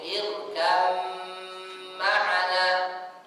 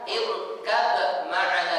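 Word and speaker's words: اركب معنا: dimasukkan ke huruf Mim irkam maana tidak boleh kita baca irkab maana diqalqolahkan bnya jadi ba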